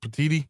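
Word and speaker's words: Petitti: Tony how do you say it is it petiti yes okay uh agreed to cfp seatings need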